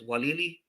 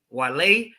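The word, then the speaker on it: Waialae: Walili, did I say it right? No. Walili Country Club. Wale Country Club out there in obviously Hawaii.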